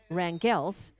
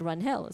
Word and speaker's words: Rangel: I think it's like saying some people will say Perez and pronounce their family name Perez, and some say Perez. And I think they are Rangels, not Runhels.